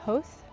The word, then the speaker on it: Howth: So we went to a town north of Dublin um on the seaside, called Howth. It's spelled h o w t h.